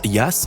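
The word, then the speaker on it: Jass: la petite ville d'interlaken le jas ce que l'on prononce liasse en suisse est un jeu de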